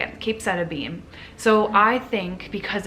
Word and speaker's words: capecitabine: Capecitabine.